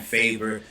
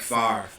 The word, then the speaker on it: Favre: situation um you know he kept saying favor it is kind of weird because if you look at Bradford's name you would think that that's how it's pronounced but you know Brett Favre um yeah I mean